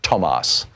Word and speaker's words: Thomas: The TH in German and in Swedish is pronounced like a hard T. So thus my name in German is Thomas, and her name is Thunberg. Yeah, Thunberg. No, it's all good. Most people in America don't know that because in English, TH is pronounced as a T, as a th, a soft T.